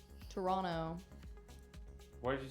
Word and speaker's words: Toronto: flung is Tacoma or Toronto Toronto why did you say it like that you don't pronounce the T thank you and good